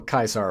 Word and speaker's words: Caesar: the ruthless man himself, Caesar, or Kaisar if you want to be really specific and pedantic. The legionnaires pronounce it Kaisar. Everyone else just calls him Caesar.